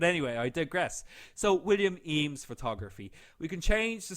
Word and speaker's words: Eames: we're going to type in my name william e ames i always have to spell that one out to anybody who asks me